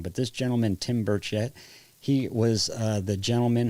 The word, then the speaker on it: Burchett: This this gentleman Tim Burch, I always say his name wrong, but this gentleman Tim Burchett, he was uh the gentleman who was in